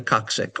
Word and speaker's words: coccyx: The tiny piece at the end, the coccyx or tailbone. Coccyx. Just going to pronounce that one more time for you.